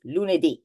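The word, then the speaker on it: lunedì: um vow so the the stress on the word um is on the very last syllable so it is not Lun is Lun Mar mer V so it needs to go up the intonation goes up and um I think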